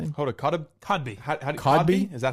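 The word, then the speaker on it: Kotb: Hodb Codby howby is that how you pronounce Cosby. Codby. Oh Codby.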